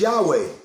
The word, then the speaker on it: Yahweh: The correct pronunciation is Yahweh, if we're going to correct teachings.